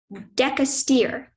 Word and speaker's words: decastere: Decastere. Are there any alternate pronunciations?